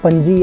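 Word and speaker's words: Panaji: तू visit in पंजी आप जो बोलते हैं हिंदी में पंजी और वैसे इंग्लिश में जो स्पेलिंग है वह आता है पणजी तो जनरली यहां पे साइलेंट होता है तो पंजी की प्रोनाउंस किया जाएगा तो पंजी में इस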